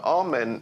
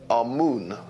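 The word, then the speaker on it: Amun: important deities was amen now amen is the pronunciation that the hebrews give it and some scholars agree to use that pronunciation our moon is the pronunciation given to it by one of the old european scholars plutarch in the language of kemmer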